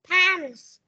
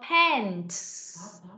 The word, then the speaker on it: pants: Pants. Không đọc là pan, mà đọc là pants.